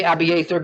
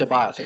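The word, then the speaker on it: Abiathar: We say Abither, but phonetically in the Hebrew it's a biother.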